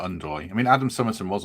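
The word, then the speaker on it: Ndoye: Matt in the chat says says we're saying it wrong. It's Doy, not Undoy.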